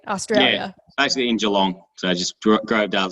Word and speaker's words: Geelong: it first nope so i'm glad you did the strong g um and so i